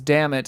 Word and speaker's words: Dammit: We think it may have been pronounced Demeet, but in America everyone just says damn it, and we've kind of just embraced it.